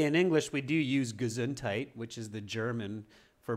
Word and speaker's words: Gesundheit: Okay, so yeah, just Ava, just remember the pronunciation is not very Germanic. It's much more English. We just simply say Gesundheit.